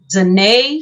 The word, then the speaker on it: Zanae: And you can follow me on Instagram at Zanae, spelled like Renee, Zanae Entertainment Talent.